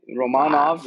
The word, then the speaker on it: Romanov: yeah i know but apparently romanov is the correct pronunciation so they have for some reason they have the oh i think it's because it's in french let's let's put this site